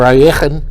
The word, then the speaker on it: Alekhine: Knight f6, which we all know today as the Alekhine defense, or Alekhine, Russian pronunciation.